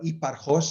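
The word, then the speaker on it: Hipparchus: related to an astronomer called Hipparchos, or Hipparchos, as we would pronounce it in Greek.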